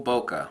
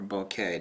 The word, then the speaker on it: bokeh: China it's actually got wonderful bokeh or bouquet depending on how you want to pronounce it it is an extremely